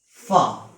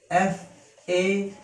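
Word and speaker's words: فاء: If you put one dot upon this shape, it will become fa. Its pronunciation in English is F-A-A, fa. It is a light letter, so it can be pronounced easily.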